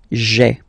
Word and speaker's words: j'ai: you get this sound j'ai, j'ai. Okay, so j apostrophe ai. Remember, when you combine this ai, you get the e sound.